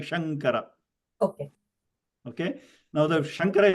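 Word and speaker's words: शङ्कर: But when you're saying the name Śāṅkara, okay, your lips don't close at all because the anuswara change into nga sound. Śāṅkara, Śāṅkara.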